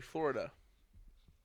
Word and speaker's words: Flo Rida: No, by Florida.